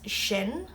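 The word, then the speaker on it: sinn: She is she, but of course it's spelled differently than English. And we is shin or mudge.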